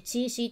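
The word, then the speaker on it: 七夕: キャラが七夕って書いてチーシーって読むんですよ。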